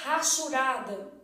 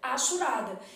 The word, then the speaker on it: hachurada: língua não é pronunciado o povo tem mania de falar assim área hachurada isso não meu filho área achada então no português o h não é pronunciado o Flávio mas minha